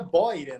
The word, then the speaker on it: Beuren: Olha, o correto em alemão seria Boyren, né? Mas, poxa vida, eu falo a vida inteira Beuren, aqui a gente fala Beuren, eu só não me